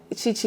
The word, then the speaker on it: Chichi: I like it as Chi-Chi and people like it like that.